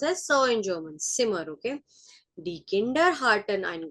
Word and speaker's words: Zimmer: That is pronounced as so in German, Zimmer, okay?